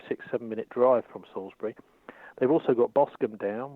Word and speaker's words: Salisbury: well first of all let me just pronounce you're correct your pronunciation is Salisbury sauce is a nice thing the name of the